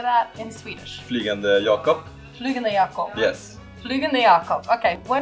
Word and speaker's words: Flygande Jacob: Flugan yakop.